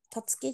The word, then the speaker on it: 辰樹: にある龍があるたつき神社というところ辰樹神社ですね龍の城と書いてめっちゃかっこいい龍の城でたつきって読むんですかはい